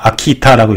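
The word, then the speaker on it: 秋田: 추전, 그래서 아키타라고 읽습니다.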